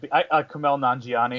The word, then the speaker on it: Kumail Nanjiani: Now, this is a new indie romantic dramedy that comes from, oh god, I can't pronounce his name. The guy that plays... What? I can say it. Kumail Nanjiani.